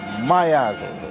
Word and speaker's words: Myaz: The artist name is Myaz, M-Y-A-Z. Yes. How that? Spell it. Say, if you speak patois, you don't say Myers.